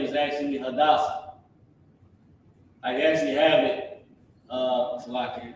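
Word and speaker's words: Hadassah: hadasa which is um her name is actually hadasa I actually have it uh I'm think I'm doing a pronunciation actually have it her name in English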